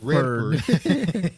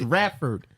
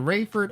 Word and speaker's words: Radford: She from Redford. It's Radford. You can pronounce it Rayford or Radford.